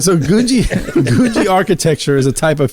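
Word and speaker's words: Googie: Gushy? Gouji. Gouji. Gouji. Not Gucci. Not Gucci. It's Gouji.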